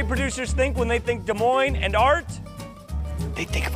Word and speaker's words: Des Moines: Talk about this campaign, The S's Are Silent. People just say our name wrong sometimes.